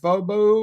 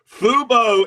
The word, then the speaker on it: Fubo: But how did you pronounce it again, John? Did you call it Fobu or what would you say? What was the pronunciation? Fu Fubo is the TV thing.